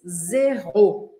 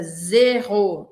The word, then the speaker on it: zéro: Presta atenção nesse detalhe. Primeiro que a primeira sílaba zero é mais e, não é é, tá? Em português a gente fala zero. Em francês é zéro, zéro. Um som um pouco mais fechado.